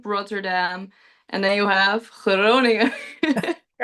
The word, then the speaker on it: Groningen: How do you pronounce it? Groningen? Groningen. Groningen.